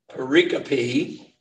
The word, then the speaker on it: pericope: and the prophets now after prayer the perique pericope had to look that up to see how pronounce it which is Hebrew for sections um